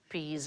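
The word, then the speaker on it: psi: They would For example, the letter P-S-I, all right, Sigh. that is the single letter there, and we pronounce it sigh, but in Greek, that sound is more like the P-S that we have in laps, so it's ps.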